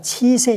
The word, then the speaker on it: 치세: 의 반대가 지새고 라 따라서 이것은 7세가 아니라 치세 이렇게 발음해야 되겠죠 예 치국 이럴 때나